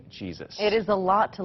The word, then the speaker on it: Jesus: Yeah, my last name is Jesus. Yup, that's how she pronounces it, and she's been doing her own version of Housing First for more than a decade.